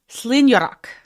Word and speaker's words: Slinneanachd: So, Slinneanachd, as far as I understand, it does not look like Slinneanachd.